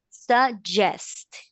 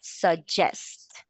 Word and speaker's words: suggest: Suggest. This double G is going to sound like what? Suggest. Suggest. Suggest. That's correct.